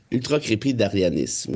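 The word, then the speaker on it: ultracrépidarianisme: Ultra crépi d'arianisme.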